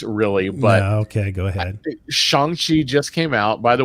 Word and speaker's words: Shang-Chi: Shang-Chi just came out. By the way, I keep saying Shang-Chi because I listened to somebody else's podcast and they said that's the way it's technically supposed to be pronounced.